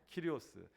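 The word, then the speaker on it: κύριος: 키리오스.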